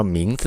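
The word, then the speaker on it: 名字: ตัว รวม กัน ตัว ตัว หลัง เนี่ย ถ้า อยู่ เดี่ยว ๆ อ่าน ว่า ซื้อ นะ ครับ ซื้อ มี เสียง ด้วย นะ ครับ แต่ พอ อยู่ ด้วย กัน 2 ตัว เนี้ย เอ่อ ตัว สุด ท้าย ก็ จะ เป็น เสียง นิวทรัล คือ เสียง เสียง เบา นะ ครับ อ่าน ว่า หมิง สึ หมิง สึ นะ ครับ หมาย ถึง ชื่อ นะ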